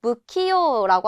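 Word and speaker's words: 不器用: 자, 안일 불자 이거 후라고 읽을 수도 있지만 오늘은 부라고 읽는 단어 한번 살펴보도록 할 건데 우리가 키요다라고 하면 재주가 있는 걸 말을 해요. 그런데 이 앞에다가 안일 불자를 붙여서 무키요라고 하게 되면 재주가 없다라는 의미가 돼요. 그래서 무키요다라고 할 때 안일 불자는 후라고 읽지 않고 타금 붙어서 무라고 읽는다는 것도 함께 체크해 주시면 좋겠습니다.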